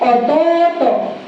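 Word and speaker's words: 弟: If you have two vowels, dapat longer and longer ang pag-pronounce. Hi, wakalimashita ka?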